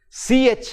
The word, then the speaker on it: christen: of till for example c-h-r-i-s-t-e-n we say for the baptism christening of the baby we say christian christianity no it is wrong it is christen the t is silent the t is silent